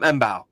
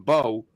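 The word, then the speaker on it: Mbow: um actually no no I was calling him embau and I think that's how I Was Heard it pronounced the other day and I'm like that's how I was saying it then Daniel Jeremiah saying Bo anyway the Purdue lineman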